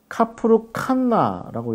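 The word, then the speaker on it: Kafr Kanna: 이렇게 이야기할 수 있는데 카프루 칸나라고 이렇게 읽을 수 있고요. 그 다음에 키르벳 카나라고 이렇게 읽을 수 있습니다. 그래서 하나는 K고 하나는 Q 발음으로 이루어집니다.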